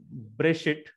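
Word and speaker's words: בְּרֵאשִׁית: The first word begins with the preposition B. We can see here Bereshit. So it gives a short A sound, very short, quick A sound.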